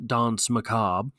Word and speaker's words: danse macabre: The danse macabre, French pronunciation, danse macabre, also called the dance